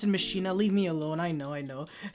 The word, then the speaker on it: Machina: By the way, I pronounce it Machina, leave me alone, I know.